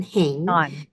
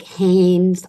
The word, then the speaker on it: Heng: And then Heng is not like Hanes underwear, because that's what's, been people been saying, Hanes, I hang underwear.